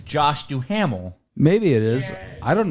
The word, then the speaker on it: Duhamel: It's pronounced Dumel.